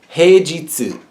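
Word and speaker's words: 平日: This is heijitsu. This kanji is pronounced jitsu, and heijitsu is weekday, as opposed to shumatsu or donichi, which would be the weekend.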